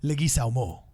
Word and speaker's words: Leguizamo: So there is more people, but it's just That's how I actually pronounce the last name, is Leguizamo.